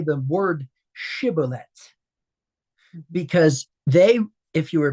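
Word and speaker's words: shibboleth: if you were Benjamite would pronounce it incorrectly and say cibillet. It's where the sheen and the sheen is pronounced as an s or is pronounced as a sh.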